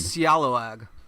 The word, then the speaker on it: Scalawag: It's pronounced Scallywag. Scalawag. Scalawag. That's how you actually...